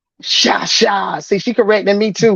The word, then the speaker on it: Cha: I know it's spelled like cha-cha, but my family's from Haiti. So that CH sound is that SH sound in French. I promise you Sha.